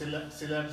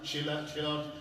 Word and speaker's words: Sylhet: Someone says Sylhet, some say Silot, some say Shilot, some say Srihotto.